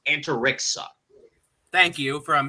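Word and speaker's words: Antariksa: rock and then uh lulu's last name is pronounced anterixa thank you from how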